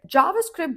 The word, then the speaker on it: JavaScript: JavaScript, just like Java, again, the stress is on the first syllable and the sound is like in jam or jacket, plus script, like movie script, you know?